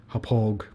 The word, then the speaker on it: Hauppauge: I've heard people pronounce it all kinds of ways. Hauppauge, I like to call it.